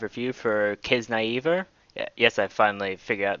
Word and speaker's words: Kiznaiver: episode 5 review for kids naive er yes I finally figured out the pronunciation it's not kids neither as probably America today it's kids naive ER so I'll be saying